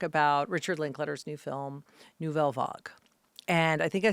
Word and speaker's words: Nouvelle Vague: But anyway, we are here to talk about Richard Linklater's new film, Nouvelle Vague.